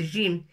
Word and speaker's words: جيم: Ça se prononce Jim.